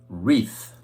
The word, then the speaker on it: wreath: three times wreath wreath now look at the spelling of this word you'll see that there's a silent w at the beginning silent w so it's r e a t h as far as sound is concerned wreath wreath we place a wreath